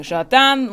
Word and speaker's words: jardin: The JARDANE is the very butchered way of pronouncing jardin, which is the French word for garden, and this is a garden set.